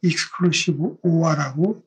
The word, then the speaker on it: XOR: 게이트에 대해서 설명을 드리겠습니다 여기 오라고 썼는데 이걸 익스클루시브 오라고 읽으면 되겠고 x 노아는 익스클루시브 노아로